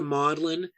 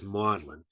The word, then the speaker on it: Magdalen: which is spelled Magdalene but it's pronate was pronounced closer to modeling I can't quite I don't remember the exact